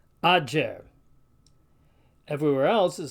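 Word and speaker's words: agger: starting to sound familiar, sounds more like the DJ in our word adjust. So the Latin word for a heap of something, spelled A-G-G-E-R, is pronounced ager.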